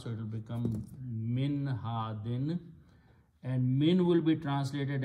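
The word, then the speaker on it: هادٍ: Okay, when you stop at the ayat or at the end of the sentence, then hadin is pronounced as had, like you have a sukoon here, had.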